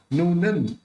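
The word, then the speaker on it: नूनं: दूसरा नूनन, यहाँ पे जो न बिंदी है उसका ग होने की वजह से वो उसका उच्चारण न निकलेगा। नूनन गुणान गणयुतुन, यहाँ पे भी न निकलेगा क्योंकि यहाँ न है, होठ मिलेंगे नहीं, तो इस तू के ऊपर बिंदी है उसका भी न प्रोनाउंस निकलेगा।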